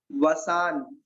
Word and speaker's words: वशान्: सोहम, सोहम, तथापि, तथा अपि, तथापि, सोहम तथापि, तब भक्ति, वसान, इसमें वा कौन सा वाला है? वन वाला वा है, वन वाला वा। तो वसान, इसको नाटक पढ़ेंगे, वसान मुनीसा, सोहम तथापि तब वसान मुनीषा।